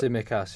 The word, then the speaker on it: Tsimikas: How do you pronounce it? Taximikas? Is that how you pronounce it? Tsimikas, yeah. Tsimikas, yeah.